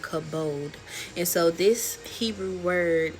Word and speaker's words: kabod: And it's called kabode. And so, this Hebrew word can stand for glory, honor, splendor, wealth, health. And so, cavode is how it's pronounced.